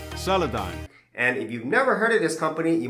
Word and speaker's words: Solidigm: have heard of they're called soliligum solitagum Metal Gear Solid game well the actual pronunciation is solidon and if you've never